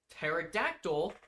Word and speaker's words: pterodactyl: uh aka a pteranodon pterodactyl even though the P is silent.